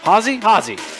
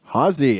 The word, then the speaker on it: Haase: Haase. Did I say that right? Haase. Haase. H-A-Z-E-H. What's up? Not a whole lot. Sounds nothing like it's spelled, but here we are.